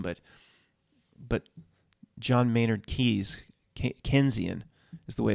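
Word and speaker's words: Keynesian: the same name but but john maynard keys kenzian is the way it's pronounced very similar for some reason what's the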